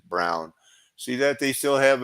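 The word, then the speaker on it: Braun: what the Von Brown it's brown it means Brown I think they even pronounce it brown see that they still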